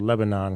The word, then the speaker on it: Lebanon: you're near Lebanon also looks like it's spelled Lebanon because it is but it's called Lebanon Nashville uh Lebanon Tennessee which is right outside of